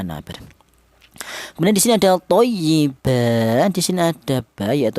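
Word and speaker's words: طيبا: Thyyiba tidak boleh utuh thayyiban. tidak boleh ya namanya iwat thayyiba seperti itu.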